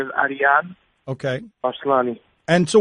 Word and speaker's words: Arian: what is your real name how do you pronounce it my real name is Ariane okay bas Kalani and so what is your